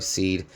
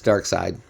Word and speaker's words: Darkseid: I'm sorry, Seed. I know it kind of spelled like that, but it's Darkseid.